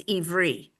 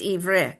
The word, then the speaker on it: Ivre: It's not Ivri. No. I said in Hebrew it's Ivri. When you say the Hebrew pronunciation is Ivri, here it's Ivre.